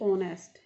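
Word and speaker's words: honest: जैसे दी ऑनेस्ट, यहाँ एच है तो कॉन्सोनेंट, लेकिन ये साउंड दे रहा है हमें वोवल की, तो हम यहाँ दी बोलेंगे।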